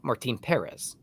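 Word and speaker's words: Martín Pérez: isn't it or is Jim correctly pronounces Martine Perez okay Perez yeah Perez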